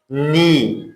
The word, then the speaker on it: knee: knee, noun هست به معنای زانو.